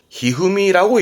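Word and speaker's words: 一二三: 이찐이상 그러니까 이찐이상이라고 쓰고 히후미라고 읽어요.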